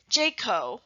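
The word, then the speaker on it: JCAHO: department regulations city ordinance jayco which is spelled j c a h o fire codes sanitation medical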